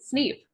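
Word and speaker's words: Sn33p: name is SN 33p I pronounce it sneep that's not Factory protocol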